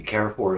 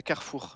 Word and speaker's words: Carrefour: Carrefour is French.